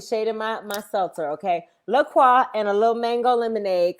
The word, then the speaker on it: LaCroix: welcome y'all i am drinking lakwa and you better say it right nick don't be shading my my seltzer okay lacroix and a little mango